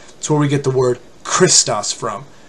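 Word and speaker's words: Χριστός: it's not a chew the correct pronunciation is in like the word lock l o CH it's a it's a heart that's where we get the word Christos from like Chris the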